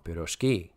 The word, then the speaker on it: pirozhki: The stress in pirozhki is properly placed on the last syllable. So they're saying it wrong, pirozhki.